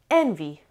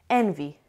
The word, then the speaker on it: envy: Envy. Envy. Envy has two syllables and the stress is on the first syllable.